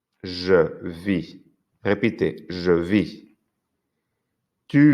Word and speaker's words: vis: Si os habéis fijado, no he pronunciado las S al singular ni la T.